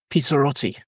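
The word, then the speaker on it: Pizzarotti: Now, Francesco is Chief Financial Officer for the whole of South America in a big construction company, Impresa Pizzerotti. Hopefully I pronounced that properly, Francesco.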